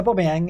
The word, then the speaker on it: Aubameyang: A lot of talk about Aubameyang. He's got to be. Did I pronounce that correctly? A lot of people saying I'm pronouncing Aubameyang wrong. That was right. That was it. Yeah, Aubameyang.